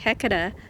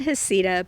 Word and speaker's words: Heceta: The Heceta Head Lighthouse is pronounced Heceta by locals and Heceta by many scholars.